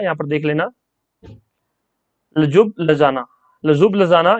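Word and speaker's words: Ljubljana: ये स्पेलिंग थोड़ा सा अटपटा है, यहाँ पर देख लेना। लजुब लजाना, लजुब लजाना ये कैपिटल है स्लोवेनिया की।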